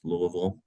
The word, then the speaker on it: Louisville: So I live in Louisville, pronounced Louisville, Kentucky.